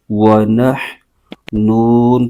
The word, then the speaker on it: وَنَحْنُ: پیش ہے اس کو بغیر کھینچے پڑھیں گے، ہجے یوں کریں گے، واو زبر و، نون ہا زبر نح، ونح، نون پیش نو، ونحن، آگے نون پر پیش ہے